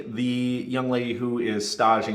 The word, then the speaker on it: stage: young lady who is stodging you've never heard of a stage before it's it's spelled like stage s-t-a-g-e and what that is